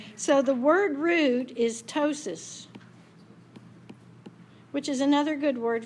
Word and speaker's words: ptosis: So the word root is ptosis, which is another good word for you to learn. In ptosis, the P is silent.